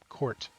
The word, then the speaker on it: Court: But Kurt is not it. So see, I can't do it. Court, like a basketball court.